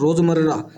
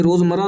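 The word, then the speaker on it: रोज़मर्रा: चींटियों को दाना डालना भी उनका रोजमर्रा। अब ये रोजमर्रा नहीं कहना। रोज मर्रा क्योंकि जब इनका उच्चारण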